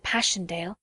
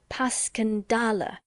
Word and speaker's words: Passchendaele: Marchant, it was so strange to hear you call it Passchendaele." "Why, if I may ask?" Because that's the way I pronounce it to myself, but I looked it up, and it's more like Paskendale.